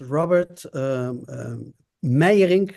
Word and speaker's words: Robert Meijering: My name is Robert Meijering. That's the way you pronounce it in Dutch.